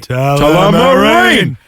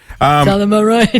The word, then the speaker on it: Tullamarine: Tullamarine. Tullamarine.